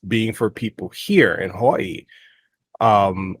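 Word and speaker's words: Hawaiʻi: for people here in Hawaii um or Havi if you want to more correctly pronounce it but it's it can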